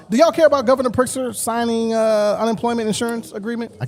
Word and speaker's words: Pritzker: You don't even pronounce the motherfucking Z. It's Pritzker. Pritzker.